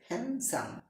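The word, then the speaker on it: handsome: আমরা অনেকেই বলে থাকি হ্যান্ডসাম, এখানে ডি উজ্জ থাকবে। অনেকেই বলি তোর বিএফ অনেক হ্যান্ডসাম, সেই ক্ষেত্রে ডি উজ্জ থাকবে হ্যান্ডসাম, হ্যান্ডসাম।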